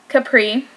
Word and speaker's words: Capri: you see i did pronounce array and it's pronounced um capri so it's this whole collection is based on